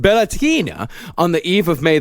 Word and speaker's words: Beltane: It's Beltane, that's spelled Beltane, but it's pronounced Beltane, on the eve of